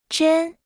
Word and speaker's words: 真: 真真真真真真真 Se pronuncia con el primer tono.